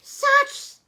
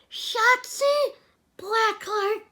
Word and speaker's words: Shotzi Blackheart: Satsu. Okay, one more time. Shotzi Blackheart.